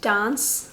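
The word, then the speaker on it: Danse: it's spelled d-a-n-s-e so i think it's meant to be pronounced dance like french don't say so this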